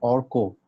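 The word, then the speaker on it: Arko: मेरा नाम एक्चुअली है ऑर्को। ऑर्को नाम है? ओके, दैट्स बंगाली, तो दैट शुड बी ऑर्को। तो यस। मैं अर्का बोल रहा था।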